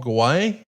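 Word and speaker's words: Guay: It was the role that movie writer Paul Gay, a lifelong fan who wrote Liar Liar. Paul Gay. Paul Gay, okay. Yeah, it's pronounced gay.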